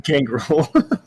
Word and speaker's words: Gangrel: Gangrel. I don't know how it's pronounced.